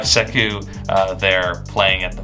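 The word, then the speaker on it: Sekou: guard you have uh saku to coin but that's that's definitely not how you say it but you have seku uh there playing at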